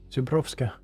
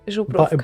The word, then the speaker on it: Zubrovka: How did you pronounce that? Zubrovska. Oh, Zubrovka. Yeah, whatever, that thing. It's Zubrovka. Bison grass thingy.